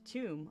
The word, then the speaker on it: Thum: Thum, pronounced tomb.